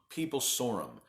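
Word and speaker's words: peeblesorum: Let me pronounce this correctly. Peeblesaurum.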